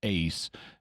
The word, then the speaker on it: eis: In Greek, Eis, or to pronounce it a little better, ace, means into, while ek means out of.